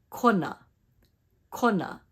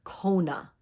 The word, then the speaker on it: Kona: na put it together Kona what we hear is Kona Kona we want to be careful that we don't drag out that o but that we pronounce it correctly this way Kona repeat after me Kona